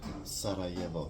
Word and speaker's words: Sarajevo: Sarajevo.